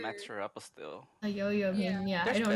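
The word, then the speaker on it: Yaoyao: That's Yo-Yo, how you Yo-Yo. pronounce it. That's really how you pronounce it.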